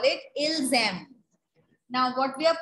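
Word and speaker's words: ils aiment: We are pronouncing it ilzem. So that means we have to write E-N-T. By how will we come to know in a sentence? By ilzem. This liaison, this sound.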